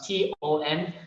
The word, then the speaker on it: Tan: So I split it and it becomes Ton, like a ton of bricks. Yeah.